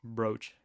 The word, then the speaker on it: brooch: never like said it aloud second one brooch thank you should raid critical he's streaming little